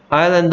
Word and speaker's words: island: Island 할 때 S가 소리 안 나는 거 주의하시고요. Island라고 발음합니다.